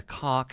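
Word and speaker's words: Kha'ak: series decided to make one of their principal antagonists the American word for cock. And all of the voice actors pronounce it that way. Look out. The cark infested the local jump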